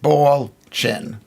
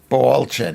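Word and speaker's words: Balchin: My name is part Polish. Bchin, pronounced Baldchin. Ballchin.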